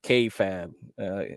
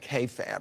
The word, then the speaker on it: kayfabe: So he pronounces it kayfabe.